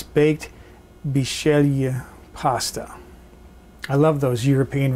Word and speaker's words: Bisceglie: consonants in any word it looks like dis kegley but they pronounce it if I'm doing this correctly is Shelia it's a baked pasta